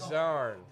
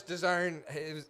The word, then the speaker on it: Dern: I told you it was Chris Dern.